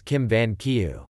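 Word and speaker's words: Kim Vân Kiều: novel Jin Yun Chao known in Vietnamese pronunciation of Chinese characters as Kim van kieu the original written by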